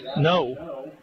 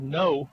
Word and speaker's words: Ngo: to be taken by no and that's how his name is pronounced it's like no and no spelled ngo but it's pronounced no and he has a